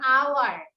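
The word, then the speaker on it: hour: যেমন আওয়ার, আওয়ার বানান হচ্ছে এইচ ও ইউ আর, এইচটা consonant কিন্তু উচ্চারণটা কি হাওয়ার হচ্ছে?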